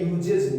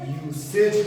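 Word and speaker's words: usage: तो ये जो हमने यूसेज मेंशन किया है, ये यूजेज नहीं पढ़ेंगे, यूसेज पढ़ेंगे। ये वाला साथी कुछ इंपॉर्टेंट पॉइंट है, क्योंकि हमारे पास अभी और भी वर्ड्स हैं हमारे।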